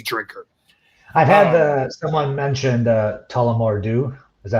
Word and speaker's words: Tullamore Dew: I've had someone mentioned Tullamore Dew. Is that how you pronounce that?